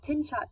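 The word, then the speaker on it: Pinchot: how would you describe pin shot stand from damming the Hetch Hetchy oh all i believe it's pronounced control I can always know it's a silent T is its I like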